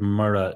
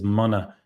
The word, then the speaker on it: mura: And just a note about that word Mura. So if not, if I didn't, or if I wouldn't, or if I hadn't. Often people pronounce it as Mona. Did you have Mona in Kerry growing up or Mura?